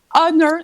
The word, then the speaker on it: honor: Honor, you don't pronounce the H, you know?